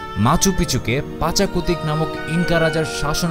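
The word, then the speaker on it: Machu Picchu: সভ্যতার অন্যতম নিদর্শন হলো মাচু পিচু অনেকেই এটিকে উচ্চারণ করে থাকেন মাচু পিচ্চু হিসেবে যার অর্থ হলো পুরনো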